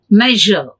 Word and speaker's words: measure: upper teeth and loading measure measure not measure usually indianized pronunciation is measure measure measure the next one is